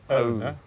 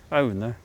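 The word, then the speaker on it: Aune: We've got a couple of mittens here, and these are called ARNE, A-U-N-E, and A-U in Norwegian is pronounced O. So ARNE. ARNE.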